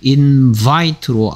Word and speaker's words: invite: 발명하다 인벤트 초대하다 invite 여기 아이의 발음이 달라집니다 동사일 때랑 명사일 때 인바이트로 아이 발음 나고 있고요 명상일 때는 이렇게 아이가 똑같은 아이가이 바람을 만납니다 그 다음에 어디 어디를